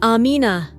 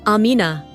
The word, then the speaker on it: Amina: that was often mispronounced it's Amina not Amina Amina would say her